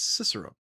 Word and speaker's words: Cicero: It's not Cicero, but it's Cicero.